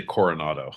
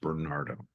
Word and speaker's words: Bernardo: is uh in my I heard you say Coronado I was like I believe it's pronounced Bernardo corado he was stuck